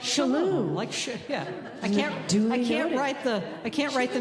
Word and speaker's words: Chellow: It's like the shell in Michele. Chellow. Chellow. It's like a sneeze. Like Chellow.